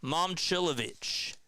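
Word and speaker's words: Momčilović: It is pronounced as Cha. Yes, my bad. Milan Momcilovic.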